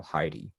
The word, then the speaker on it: Haiti: you say is that they've just learned to just simply say Haiti because we don't know it's supposed to be called Heidi? Well, many people, even from IT, do not know the proper pronunciation.